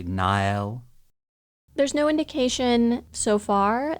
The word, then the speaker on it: Nahel: with no other information, I would probably say Nahel. Kind of like the Sahel Desert. Yeah. Or Nahel might also work. You can just sort of swallow the H and say Nahel.